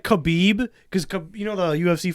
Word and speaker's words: Khabib: on camera when I said uh Joey Diaz mispronounced Allahu Akbar as Abuabak or instead of like Khabib cuz you know the UFC fighter Kabib. Yeah. He called him Kalabib.